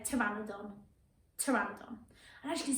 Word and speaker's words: Pteranodon: Then we've got, now this one is a silent P on, so this one's trying to get you and catch you out, but it's not, it's Pteranodon. So see if you can say that, Pteranodon.